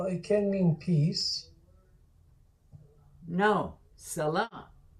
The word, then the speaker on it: salah: But if you say salah, yeah, that's a stop without the T.